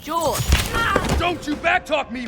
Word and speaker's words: Jorge: My name's pronounced George. Don't you backtalk me, Jorge!